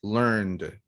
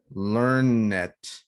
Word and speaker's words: learned: When that's the case, you pronounce this like L, N, D, learned as a verb in the simple past. But if it's an adjective, you say learn it, like learned people, people with a lot of knowledge, okay?